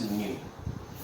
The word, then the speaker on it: nu: It is pronounced as nu.